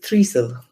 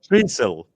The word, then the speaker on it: Trysil: hoping I've got the pronunciation right here, a Trysil in Norway. Is that correct? Oh, so my Norwegian pronunciation isn't great either. So do apologise. I apologise to everyone in Norway listening. It's Trysil. Trysil.